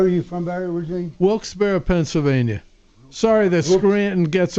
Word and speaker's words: Wilkes-Barre: The truth is, it's named after a guy named Isaac Barry, but it's still pronounced, most of us say Barra, like a Barra, but it's named after